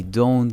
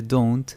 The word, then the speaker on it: don't: in their Jobs I don't in a House mucho cuidado con la pronunciación de Don't no es don sino Don't como do un You Don't live in